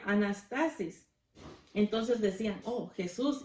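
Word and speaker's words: ἀνάστασις: griega se llamaba o se Perdón se se pronuncia anastasis entonces decían Oh Jesús y Anastasia ya nos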